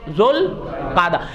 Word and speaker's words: ذوالقعدہ: جی ہاں, ذوالقعدہ. بعض اس کے تلفظ زیر کے ساتھ بھی کر دیتے ہیں, بہرحال کوئی بات نہیں. میرے ساتھ مل کے کہہ دو ذوالقعدہ.